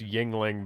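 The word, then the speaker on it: Yuengling: guy in the chat said it's pronounced yingling but okay.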